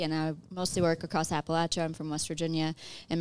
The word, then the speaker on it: Appalachia: Elaine who taught me that Appalachia is the right way to say it like if you say it wrong I'll throw an Apple